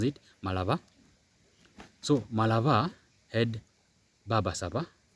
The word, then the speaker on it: Malaba: So in Malaba, yes, as the lawyer pronounce it, Malaba.